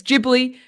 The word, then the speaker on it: Ghibli: It's it's it's gibbly just like sorry it's gibli like it's gif if you get what I mean where it's like some people say the opposite but it's the opposite.